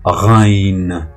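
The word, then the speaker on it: غ: La deuxième lettre qui a un point au-dessus, c'est le rain, rain, rain.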